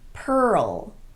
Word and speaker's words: pearl: Some other examples would be pearl, whirl, hurl, swirl, and twirl. Every one of these is technically a single syllable word, but they're pronounced as if they have two syllables.